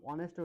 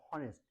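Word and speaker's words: honest: Normal উচ্চারণ করতে তাহলে হনেস্ট, কিন্তু আমরা বলছি অনেস্ট। আবার এখানে লেখা আছে হাওয়ার, কিন্তু আমরা উচ্চারণ করছি আওয়ার। তাই এইচটা আমাদের silent letter, H silent letter, এসিএলএনটি silent letter হিসাবে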